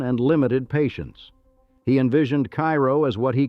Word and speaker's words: Cairo: Comstock died before his vision materialized, but the name stuck, pronounced not like the Egyptian city, but as Cairo, a local distinction that has persisted for two centuries.